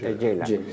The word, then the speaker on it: Gela: No es Gela se escribe, sería Gela en italiano. En italiano es Gela.